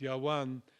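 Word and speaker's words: יָוָן: nation is mentioned with Yavan, which would have been pronounced Yawan in biblical Hebrew, which is iron in Greece.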